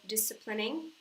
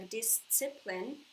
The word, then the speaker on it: discipline: Знаю, что многие слово discipline произносят как discipline. В английском нет звука «ц». Поэтому вот всегда, когда вам захочется произнести в английском звук «ц», заменяем его на «с».